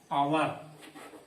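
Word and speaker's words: hour: और भी इसके उदाहरण है, आवर, ये एच से जरूर हुआ है, इसको हमको नहीं देखना है, इसका उच्चारण क्या हो रहा है, आवर, तो भी क्या लगाएंगे, एन लगाएंगे, है ना। यहाँ पे एच क्या है, साइलेंट है ना।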